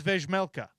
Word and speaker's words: Vejmelka: Does he pronounce the J? He says Vejmelka. Vej. He says the J.